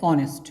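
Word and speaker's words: honest: कि यह हमारा है ऑनेस्ट अच्छा ठीक है यह मारा गया ऑनेस्ट अब देखो यह क्या है वैसे क्या वह ठीक है अब यहां पर साइलेंट है उसी तरीके से यहां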